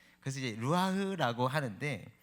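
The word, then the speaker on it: רוּחַ: 원래 히브리어는 이렇게 끝에 가래 끓듯이 발음하는 거라고 배웠어요, 학교 다닐 때. 그래서 이제 루아흐라고 하는데, 이 루아흐라는 단어는요,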